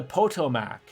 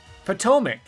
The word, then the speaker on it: Potomac: to just ruin it potomac toe mic to be fair you put mike and not mick to be fair potomac you put mike this